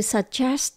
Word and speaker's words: suggest: Động từ suggest có nghĩa là đề nghị hoặc là gợi ý. Ở trong động từ này tận cùng có S và T, chúng ta phát âm nhé.